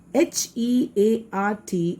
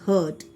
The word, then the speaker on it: heart: H-E-A-R-T is heart. And children, I have heard many times many of the children pronounce it as hurt.